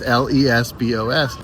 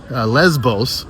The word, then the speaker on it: Lesbos: the island in Cree Lesbos. And um yes, the derogatory term is spelled the exact same way, but it's pronounced a little bit differently.